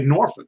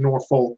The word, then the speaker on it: Norfolk: they were up there they say Norfolk but that's not how it's spelled that's sometimes you know you don't pronounce things the way it's spell so I'm saying Norfolk but Ole Miss gets